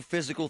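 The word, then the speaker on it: Fyzical: You want a new physical therapy experience? You want a treatment plan centered on you? Monroeville Physical, spelled F Y Z I C A L, is spelled different.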